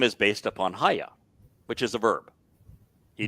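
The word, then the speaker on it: היה: And it's pronounced Haya. No one disagrees that it's pronounced Haya.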